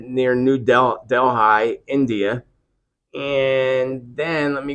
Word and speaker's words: Delhi: here in India near New Delphi or New Delhi Delhi is how you say that New Delhi so there